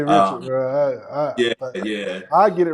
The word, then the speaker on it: Richard: it yeah I say Richard yeah I get it right yeah I've just talked to some Hennessy reps from over there in France and that's how they pronounce it recard you know what I'm